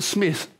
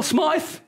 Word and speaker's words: Smyth: former Channel 9 newsreader, Michael Smith, S-M-Y-T-H. Phil Smythe, basketballer, same spelling, pronounced it Smythe, you know?